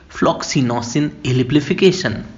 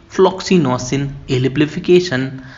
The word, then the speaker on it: Floccinaucinihilipilification: तो आइए सबसे पहले हम सीखते हैं इस वर्ड को प्रोनाउंस कैसे करना है। तो हम बोलेंगे फ्लॉक्सिनोसिन एलिप्लीफिकेशन। मेरे साथ रिपीट करिए, फ्लॉक्सिनोसिन एलिप्लीफिकेशन।